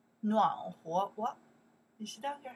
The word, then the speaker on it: 暖和: In that case, we pronounce 和, 和, 暖和, warm, 暖和, warm, okay, 和, that's a character have more than one.Pronounce.